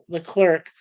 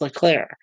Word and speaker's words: Leclerc: Uh, Leclerc, some people pronounce it, but I believe it's in French, so it's Leclerc.